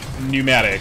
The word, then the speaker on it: pneumatic: pneumatic. I think the P might be silent, but alright, we got another pickaxe part.